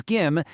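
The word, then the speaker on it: 김: Just remember to hit that hard G and B sound.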